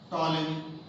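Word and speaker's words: Ptolemy: टॉलेमी। Piece में silent है।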